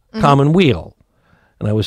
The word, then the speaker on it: Commonweal: first alex connor the owner and operator of common wheel see i see what you did there i did well then i pronounced it right exactly art gallery alex good